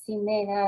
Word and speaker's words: Ximena: Ella es Paula Jimena García, Ximena, así se pronuncia bien.